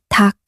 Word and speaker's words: 닭: When 흙, 닭, and 목 are spoken alone, you only pronounce one consonant, sounding like 흙, 닭, and 목.